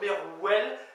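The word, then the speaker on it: mervel: Mourir, merveille ou merwell, M-E-R-V-E-L ou M-E-R-W-E-L, donc merwell.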